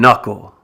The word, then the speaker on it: knuckle: Other words with the silent K include knife, knee, know, knock, need, and knuckle, which is this part of your hand right here where the finger joins the hand.